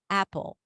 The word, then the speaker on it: apple: Now, keep the mouth open like that, but also think as if you're pronouncing an E sound. I want something in the middle. Apple. Apple.